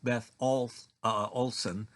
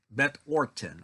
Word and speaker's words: Beth Orton: are not familiar with Beth Olson. Orton. Beth Orton. I got the name wrong. Beth Orton, not Olson.